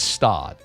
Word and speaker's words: Stade: It's Stade. Like you were totally wrong. Whatever you like you said like Stade or something.